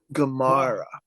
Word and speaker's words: Gamarra: I can never pronounce his last name. It's the last one. Whatever. Gamarra.